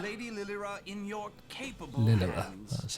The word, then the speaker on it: Lilira: I leave Lady Lilira in your capable Lilira, hands. that's how you pronounce it.